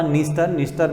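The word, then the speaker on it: Dniester: और इसके अलावा निस्टर भी डी से स्टार्ट होती है, यहाँ भी डी साइलेंट है।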